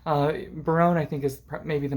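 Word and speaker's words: Berowne: these other three men Baron Baron I think is the pronunciation uh Baron I think is maybe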